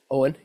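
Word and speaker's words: Eoghan: And so a GH in some names, so for instance, my name, don't pronounce that GH, Owen, E-O-G-H-A-N.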